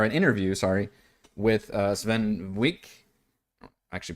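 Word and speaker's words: Swen Vincke: GameSpot ran or an interview sorry with uh Sven Wick actually pronounced his name uh of Laren Studios and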